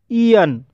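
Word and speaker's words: aeon: आर ना आए, जैसे ईन। ईन ए ई से शुरू हुआ है, इसलिए यहाँ पर ए ई का उच्चारण ई हुआ है, इसलिए इसे ईन पढ़ा जाता है और ईन मीन्स होता है युग।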